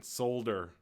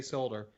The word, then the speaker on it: solder: Stop pronouncing the L in solder. Voultar. Oh, thank you. Thank you for telling me how to say solder.